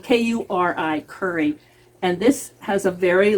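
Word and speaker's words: kuri: This is a red curry squash, and it's spelled K-U-R-I, curry.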